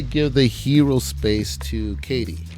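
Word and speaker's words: Cady: And I'm going to give the hero space to Katie. I think that's how they say their name, Katie. It's spelled Caddy for some reason, but I think it's Katie.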